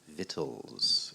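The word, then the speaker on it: victuals: took our vittles e-l-s believe it or not it's v-i-c-t-u-a-l-s vittles is how it's pronounced okay and we have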